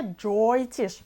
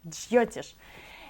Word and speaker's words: Джйотиш: Не Джойтиш, как многие произносят, а Джьотиш.